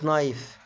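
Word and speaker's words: knife: طبعا يا جماعة الناس اللي بتتابع حلقات قواعد النطق، طبعا اتكلمنا ان الكي لما بيجي وراه حرف الان الكي لا تنطق، زي الكلمة اللي قدامنا knee، تمام، وزي كلمة نايف سكينة، وكلمة نو يعرف، وهكذا.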